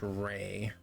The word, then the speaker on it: Rhea: Rhea Frost Grip. Or is it Ray? We're gonna go, see, there's Ray Latre, and then there's Rhea Perlman. But I think this is pronounced Ray. Ray Frost Grip.